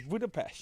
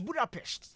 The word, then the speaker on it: Budapest: that they do how they pronounce it is Buddhapest. It's budapest.